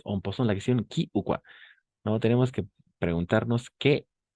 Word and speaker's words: quoi: Esa combinación de letras o i va a ser wa.